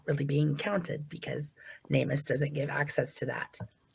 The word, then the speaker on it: NamUs: So this is from it's pronounced NAMUS, and it's NAMUS, and it's where I talked about a little bit earlier.